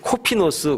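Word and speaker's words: κόφινος: 여기서 말하는 이 바구니라고 하는 그 헬란 말이 코피노스 그렇게 발음을 합니다.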